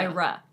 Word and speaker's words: Ira: Also, you didn't emphasize the ra. Ira, because that's in caps. Yeah. Ira.